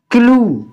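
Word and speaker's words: clue: सी एल य ई इसको हम क्या पढ़ेंगे क्लू टी आर यूई टू अगर य डबल एल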